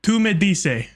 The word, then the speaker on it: Tú me dices: Two made dice. I want to know how to say that because that is probably Spanish. Tú me dices is how you say it.